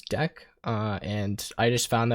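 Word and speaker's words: deque: type known as the deck so yes this says DQ right here and the title of the thing is spelled DQ um but the way that you pronounce it is deck uh and I just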